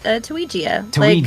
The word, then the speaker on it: Tuigia: Oh uh it's Tuigia. I think of Mario and Luigi.